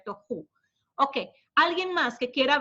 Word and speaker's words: tohu: Más que la gramática es cómo se pronuncia, tohu.